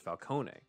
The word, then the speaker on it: Falcone: fox says also i'm italian and falcone is pronounced falcone uh so that that adds on to what